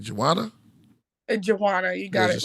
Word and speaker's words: J'Wanna: it right how you how do we uh pronounce the name Joanna Joanna you got it right yeah that's beautiful okay